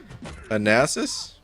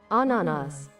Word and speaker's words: ananas: Fun fact about pineapple, majority of the world calls it with one name, Anasis. Really? I probably mispronounced it too, but...